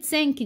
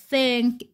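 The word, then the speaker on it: think: في ناس الكلمه دي الناس بتقولها سانك غلط معناه يشكر فيرب اللي هو معناه يشكر ده برض ثانك بالتي اتش كده بتنطق ثانك اما دي سانك شوفوا الفرق بقى من النطق الفرق في النطق طبعا بيفرق خالص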